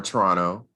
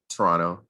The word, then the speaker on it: Toronto: The fact that it's set in Toronto, or Toronto, as I think people in Toronto pronounce it, Toronto. You're not supposed to pronounce that second T.